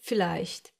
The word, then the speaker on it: vielleicht: Yes, the Germans will most of the time pronounce this letter like you would pronounce the English F. Like here in this number, 4. Some other examples are Vater, verkaufen, viel, vielleicht.